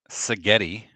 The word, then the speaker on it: Sagetti: Sagetti rhymes with spaghetti.